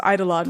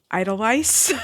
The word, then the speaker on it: Eidolon: I wasn't sure if I pronounced Eidolon right, because in my head, because I didn't listen to the audiobook, I read it. In my head, it was Idolice.